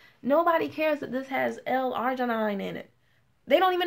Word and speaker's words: L-arginine: Nobody cares that this has L-arginine in it. They don't even know what that is. Half the people in my company don't even know what that is. They're walking around pronouncing it L-Argentina.